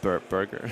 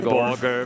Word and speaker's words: Borger: Burger. Heavy Borger. It's definitely an O, not a U. I would say Borger, pretty Borger.